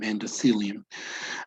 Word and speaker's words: endothelium: Okay, you know the pronunciation between a T and an H, right? It's thelium, endothelium.